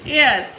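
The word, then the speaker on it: hour: ऐसी एयर, एयर, hair बोल रहे हैं, तो H यहाँ भी हमारा साइलेंट है, EIR, तो यहाँ भी हम N लिखेंगे।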